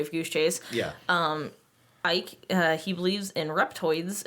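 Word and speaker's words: Icke: I grew up with David Ick and I've been reading that stuff since I was a kid.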